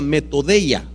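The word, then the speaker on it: μεθοδεία: es una palabra que en griego se pronuncia meto de ella método de ella si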